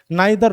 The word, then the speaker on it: neither: वैसे इसको ईदर और नीदर नॉर, या फिर आप जो बोलते हैं ना ट्रेडिशनली बचपन से आइदर और नाइदर nor, that is also correct pronunciation, don't worry about that.